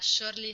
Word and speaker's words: surely: already know but um this is also the sh sound um very rare only a couple words in English start with Su but sound like sh um and you pronounce